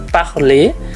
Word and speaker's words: parler: Kemudian ada kata yang lain seperti parler, ya, tulisannya parler tapi dibacanya parler.